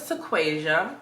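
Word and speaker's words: Taquasia: went to an event and my name is tequasia and please wait tell them you're Tick Tock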